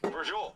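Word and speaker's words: braciole: Brujol. Not quite how it would sound Brujol. phonetically, because it's B-R-A-C-I-O-L-E.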